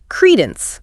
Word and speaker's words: credence: Then credence. Credence. Stress on the first syllable.